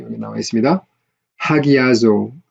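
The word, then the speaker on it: ἁγιάζω: 하기아조, 여기 지금 rough reading만 거친 수표 있으니까 하로 발음해야죠. 하기아조, 거룩하게 하다, 성화시키다.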